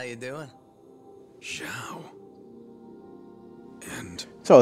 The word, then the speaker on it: Zhao: Zhao. And... So it's Zhao, okay.